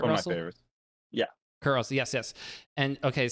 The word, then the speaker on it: Kurt Russell: Kurt Russell, yes.